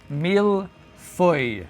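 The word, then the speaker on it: mille-feuille: So, this is the mil foy. That's how you pronounce that.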